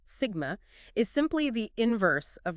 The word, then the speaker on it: sigma: it conductivity denoted by the Greek letter sus pronounced Sigma is simply the inverse